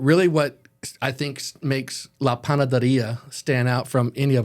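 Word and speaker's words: La Panadería: I think he's happy with the way I pronounced it. La Panaderia. Can you do me a favor, Ken? what's Can you that? say that 3 times fast? La Panaderia, La Panaderia, La Panaderia.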